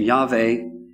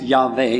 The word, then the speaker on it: Yahweh: And I pronounce it Yahweh, not Yahweh, because Hebrew is a living language. It's still spoken today, right? And in Hebrew today, you would pronounce that Yahweh.